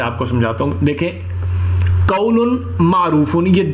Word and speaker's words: قول معروف: قولن کو قول نون کے ساتھ کھول دیا گیا ہے معروف, اور ہم جب اسے تلفظ میں اس کو ہم جب پروناؤنس کریں گے تو لام کی جگہ ہم میم پروناؤنس کریں گے, قول معروف.